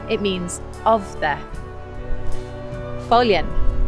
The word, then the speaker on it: Foillan: it means of the folian don't be confused by the way that it's spelt folian means gull so